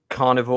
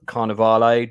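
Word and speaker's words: Carnivàle: Not a show I've seen, but he was also the production designer on Carnival or Carnivale, depending on how you want to pronounce it.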